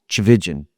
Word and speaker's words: Tchividjian: Tchividjian. But when I explain that it rhymes with religion, that helps people.